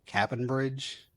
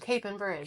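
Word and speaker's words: Capon Bridge: Probably gonna say it wrong. Cap'n Bridge. Okay. Yeah. Oh, Cape and Bridge. Cape. Yeah. I knew I'd say it wrong.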